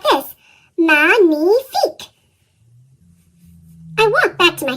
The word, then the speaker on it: magnifique: Magnifique.